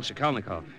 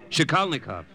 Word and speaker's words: Shikalnikov: Well, actually, Father, it's Michael Shikalnikov. Would you mind repeating that? Shikalnikov. It's Polish.